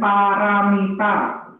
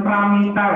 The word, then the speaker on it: Paramita: Paramita. Melatih kemurahan hati. Oke, terima kasih ya. Oke ya, bacanya paramita ya, bukan pramita ya.